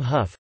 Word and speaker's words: Hough: As in cuff for tough, rough, enough, and the name huff.